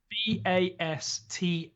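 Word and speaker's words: Båstad: Bastad. There's no R.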